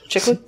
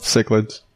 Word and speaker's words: cichlid: How do you say that? Chicklets? Cichlids. Chicklets? They're not chicklets.